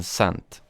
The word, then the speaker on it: scent: Is the S or C silent in scent? That's a good question, actually. I would say the C is silent.